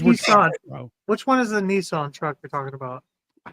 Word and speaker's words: Nissan: He does be saying Nissan. Nissan. That's actually the way it's pronounced.